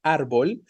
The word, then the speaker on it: árbol: hemos estado utilizando antes evidentemente es este ar que sí se está representando de manera concreta Y entonces esta palabrita